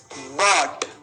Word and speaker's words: bought: Past tense हो गया बॉट। बॉट खरीदा, स्पेलिंग है BOUGHT।